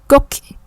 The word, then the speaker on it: coq: Coq, chứ không phải cốc.